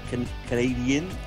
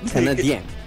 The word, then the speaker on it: Canadien: Je suis Canadian. Canadien, with the accent towards the end.